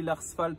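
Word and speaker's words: Lars Fält: Donc ça s'écrit Lars Felt, ça se prononcerait Lars Felt, hein. C'est suédois.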